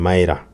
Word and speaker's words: Maier: name actually on the screen there is a misspell it is Vivian Vivian Mya so from this story what do we learn